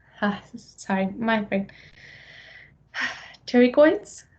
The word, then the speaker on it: pterygoid: then we have the carry coy sign my friend Terry coins the P is silent because yay for a Greek it's a Greek word there is a medial